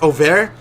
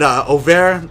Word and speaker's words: Overtflow: It's pronounced Auvert. It's a French word because my great grandma is actually French, and Auvert.